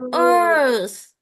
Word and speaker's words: earth: Nó nhìn giống cái tai ở chữ đầu âm đầu này thôi, nhưng mà nó là âm er. Ngân Giang. I say it many times. Earth.